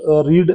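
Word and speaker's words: read: अब जो रीड है ना रीड का फर्स्ट रीड रीड का सेकंड और थर्ड वर्ब है रीड रेड रेड। स्पेलिंग एक जैसी है लेकिन हम पढ़ते हैं उसको रेड है।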